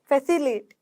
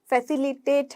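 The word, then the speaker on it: facilitate: फैसिलिएट, फैसिलिएट, फैसिलिएट, फैसिलिएट, ठीक है, फैसिलिएट नहीं है, फैसिलिटेट है। ठीक है, फैसिलिटेट हम जनरली बोल देते हैं, फैसिलिएट, मेरे मुंह से भी यही निकल रहा है, लेकिन इन शब्दों को हम प्रोनाउंस कैसे करते हैं, फैसिलिटेट।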